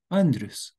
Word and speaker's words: Andrius: For me, the most important videos are in the playlist called Wondrous Wisdom, where wondrous rhymes with my name, Andrius.